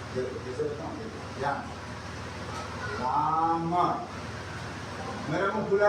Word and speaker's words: राम: तो आप लोग उसको रामा पढ़ते हैं, जबकि वो राम। क्या है वो? राम।